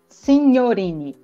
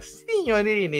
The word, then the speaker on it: Signorini: O Signorini, o G com a N, tem som de NH. Ah, legal. Signorini, italiano também.